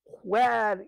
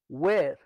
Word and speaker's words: where: আমাদের দেশে হোয়ার ইজ দা বুক, হরিবল উচ্চারণ। ওয়ের, ওয়ের, হোয়ার নয়, ওয়ের।